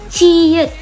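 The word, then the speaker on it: 치읓: Ciet. Oke, ciet. Ini seputar kembaran yang tadi. Siot begini, jiet ada atasnya. Nah, ini kita baru lagi. Ciet.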